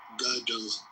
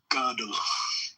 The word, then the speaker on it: Gödel: How do you pronounce that? Fidel or Godel? Or Kurt Gödel. Godel. Yes. Yep. Godel.